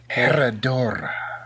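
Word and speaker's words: Herradura: Come on, boy, roll them R's. Yeah, you're right. Herodora.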